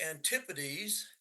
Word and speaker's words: antipodes: What are the antipodes? Again, we look at the pronunciation, which is now different.